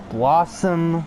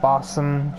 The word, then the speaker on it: Blossom: Blossom, not Bossum.